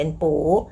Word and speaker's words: 不: คะ ต่อ ไป ค่ะ ปู้ ตัว ปู้ ตาม ด้วย เสียง 1 นะ คะ ปู้ ตัว ไม่ มาก